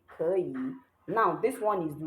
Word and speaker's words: 可以: 可以. Remember, we learned that when saying it, you say it like this E here has second tone. You say it like 可以 and not 可以, but that is when you're saying it.